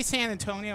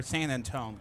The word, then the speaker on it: San Antonio: You say San Antonio or San Antone? Cuz I've heard it both ways.